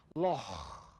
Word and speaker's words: loch: The answer to what's loch in Scottish English is... And in England, they would say lake, but in Scotland, we say loch.